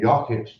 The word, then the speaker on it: Yuckett: Like I've said his name wrong for so many years that it's stuck. And every time I see him, he goes, "No, it's said Yuckett," you know.